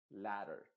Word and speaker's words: ladder: O en otro momento te voy a explicar efectivamente cómo se pronuncia la D entre dos vocales. Por eso suena como una R en este caso, una R de pero y para en español. Se diría ladder.